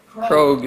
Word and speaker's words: Krog: Krog, go. Bad start. Just kidding. Rhymes with Vogue or Rogue. I'm sorry? Krog. Krog, all right.